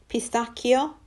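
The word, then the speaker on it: pistacchio: you know that one Pastakia is pistachio CH is pronounced like a k' in Italian stracciatella is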